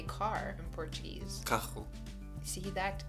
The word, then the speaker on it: carro: that we pronounce, and it's the same for double R's in Portuguese, but I still struggle with that. So how would you say car in Portuguese? Carro. See that? Carro.